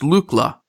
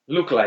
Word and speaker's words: Lookla: So it's pronounced Lookla. Lookla, yeah.